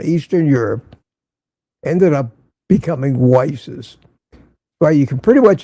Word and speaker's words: Weiss: Pronounced very close. Very close. And people call me Whis and that's annoying. It's not Whis, it's Weiss.